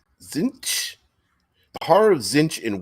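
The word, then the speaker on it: Tzeentch: Pronounce it Zinch.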